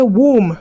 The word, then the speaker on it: womb: So you only pronounce the M and stay silent on the B. Do you understand? So now let's practice pronounce after me. Womb. So you say womb, not womb.